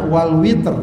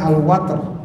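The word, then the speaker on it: والوتر: Kadang juga ada yang dibaca wal witr, yang biasa mungkin akrab kita witir, ya, tapi di sini bacanya al watr.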